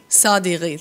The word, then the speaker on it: Sadeghi: I don't quite know how to pronounce his name. Sadeghi, thank you.